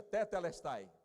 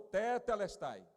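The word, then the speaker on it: τετέλεσται: Os estudiosos da língua grega dizem que é uma expressão, tetelestai, que Jesus pronunciou. Diga, tetelestai. De novo, tetelestai.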